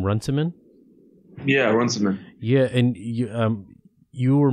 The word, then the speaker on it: Runciman: how democracy ends by David how do you pronounce the name Runciman yeah Runciman yeah and you you were mentioning something that